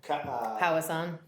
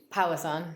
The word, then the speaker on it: Powassan: Powassan. Yes. Powassan. Yep, house on, Yep.